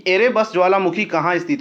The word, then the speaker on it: एरेबस: Next question है कि एरेबस ज्वालामुखी कहाँ स्थित है। फ्रेंड्स, ये थोड़ा एयरबस नहीं एरेबस होगा, माउंट एरेबस ये स्पेलिंग होता है इसका।